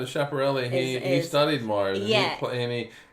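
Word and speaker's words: Schiaparelli: us pronouncing it wrong but chaparelli is named after a dude chaparrali crater well no chaparelli he studied Mars yeah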